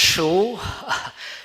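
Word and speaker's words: Shure: know from our previous speaker uh so it's pronounced Sho Sho is uh equipment maker uh we build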